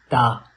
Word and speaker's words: ت: Ta is pronounced from the tip of the tongue, touching the roots of the top two front teeth.